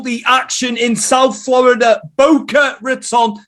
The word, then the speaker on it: Boca Raton: action in south florida boca raton not bocca i'm uk pronouncing it and it's funny